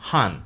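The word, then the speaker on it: 反: Se pronuncia «han».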